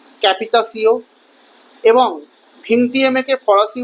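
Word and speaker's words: capitation: ক্যাপিটেশনকে ফরাসি ভাষার উচ্চারণে বলা হয় ক্যাপিতাসিও এবং ভিংটিয়েমেকে ফরাসি উচ্চারণে বলা হতো ভ্যাতিয়াম।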